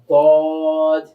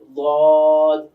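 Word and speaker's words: ض: সদ আবার সদ এরপর আমরা চলে যাই দদ দদ। দদের উচ্চারণটা তুলনামূলক অন্যান্য হরফ থেকে একটু কঠিন হয়। কঠিনটা কেন হয়? কারণ জিহ্বার কিনারাটা এটা উপরের মাড়ি দাঁতের সঙ্গে লাগাতে হয়।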